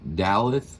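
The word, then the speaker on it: Daleth: me it's I think it's pronounced the the dalith d a l e t h and it's kind of about how we should be how we should try to live our life.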